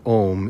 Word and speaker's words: om: to be truly pronounced so a true pronunciation of om is actually three letters a so you're getting a cycle a u m which is essentially the